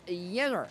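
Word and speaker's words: Jenner: So he has been joined alongside Kadely, who you and I are both very familiar with, and Yenner is the pronunciation we are going with for Winners POV.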